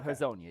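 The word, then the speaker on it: Hezonja: But like Should we Mobley, trust him on the pronunciation? Nah, Actually, this one I do know. You It do? is Yeah. Hazonia, yes.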